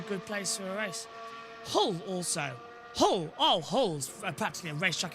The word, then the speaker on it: Hull: Hull, not Hull. Hull. But yeah, you don't pronounce the H if you're from Hull.